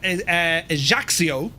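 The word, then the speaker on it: Ajaccio: Currently on the ground here at Haxio, that's how you pronounce it, friends. Ejaxio, uh, which is actually called Napoleon the Bonaparte Ajaxio airport.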